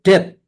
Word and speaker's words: debt: Nah, kalau dalam bahasa Inggris itu debt, tulisannya DEBT, debt, bacanya debt ya.